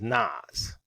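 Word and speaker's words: נס: word nas or his transliterated it looks like Nick but the pronunciation is nas okay so what does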